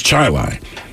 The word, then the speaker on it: Chili: a suburb of Rochester and it's spelled Chile c-h-i-l-e but if you live there it's chili and there was a